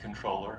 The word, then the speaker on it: comptroller: And in fact, the word is a French term, Comptroller, but it's pronounced controller, and so we have just anglicized it, and we call it the controller.